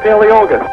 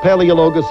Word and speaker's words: Paleologos: Representative Paleologos. He didn't pronounce your name right. It was close. It's close all right. Paleologos. Paleologos.